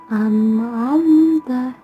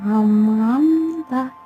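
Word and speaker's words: أنعمت: Cara membacanya adalah harus jelas di mulut. An'amta, an'amta, bukan am'amta, namun an'amta alaihim.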